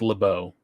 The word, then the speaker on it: LeBeau: in between for the people at home it's LeBeau for the people at home but okay um French pronounce it but all right go ahead that's